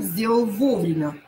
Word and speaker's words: вовремя: Сделал вовремя. Ударение на О.